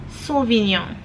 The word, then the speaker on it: Sauvignon: In French we're going to read Sauvignon.